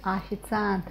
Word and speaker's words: официант: Or here we have о sound, овощи, because it is stressed, we pronounce it as о, as it is written, yes? When it is not stressed, we pronounce it as а, like in this word, официант. Официант is not stressed, but here it is stressed.